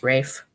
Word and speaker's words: Ralph: name is yeah yeah it's Rafe oh it's Rafe what yeah I always think his name was Ralph spelled Ralph but it's pronounced Rafe oh really yes that's